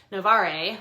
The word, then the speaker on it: Novare: The other book, I pronounced this wrong in my last video and I should have known better because it's a Latin word, Novare, which means to renew.